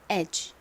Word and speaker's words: edge: 하지만 실제 원어 발음으로는 이 D가 묵음으로 소리가 나지 않는다고 말씀드렸죠. 그래서 edge 이렇게 발음이 됩니다.